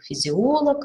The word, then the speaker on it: физиолог: и варфоэпии но аналог а называющие лиц по роду занятий имеют ударение на средней части слова физиолог антрополог приставочные существительные чаще имеют